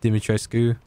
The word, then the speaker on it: Dimitrescu: but i would say i'm going to say dimitrescu or dimitrosku you mean dress coup because apparently someone there was like an actual romanian person and she pronounced it dimitry sku and there was um